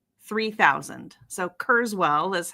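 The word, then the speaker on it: Kurzweil: So Kurszswwell is how we pronounce it.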